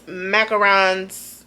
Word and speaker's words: macarons: Base notes, macarons. I believe that's how you say it because it's only one O and not two.